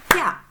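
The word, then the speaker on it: きゃ: Ki dengan ya, itu kalau berdiri sendiri ki ya, ki ya. Tetapi kalau ya-nya dengan tulisan kecil seperti ini dibacanya menjadi kya, begitu ya, kya.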